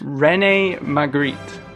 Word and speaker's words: René Magritte: How do you pronounce it? Put these foolish ambitions to rest. René Magritte.